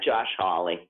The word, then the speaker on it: Hawley: your senator from missouri josh howley is that how it's pronounced holly or holly holly howly howly um holly actually paulie yeah josh hawley josh how how for something